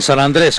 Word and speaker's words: San Andrés: Aquí estamos, en San Andrés, con acento en la E, del mudéjar.